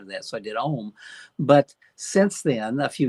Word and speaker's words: Ohm: Original name of it, I called it Ohm, OHM, Right. just from the word home. I felt, home sounds so warm and cozy. I want a variation of that, so I did Ohm.